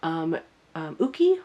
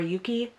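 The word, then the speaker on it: Yuqi: And then in the back here we have Uki or Yuki from G-Idol. I'm not sure. I think I hear more people pronounce it Uki.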